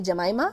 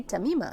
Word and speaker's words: Tamima: telling you earlier that people always get my name wrong but they'll always call me jemima and i'm like but i say tamima i maybe we can